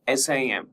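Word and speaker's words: SIEM: Merging security information management that is SIM and security event management SEM and pronounced SIM with a silent E.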